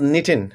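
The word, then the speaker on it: knitting: मॉम अ शी वाज निटिंग निटिंग का के जो है वो साइलेंट है एंड आई हैड टू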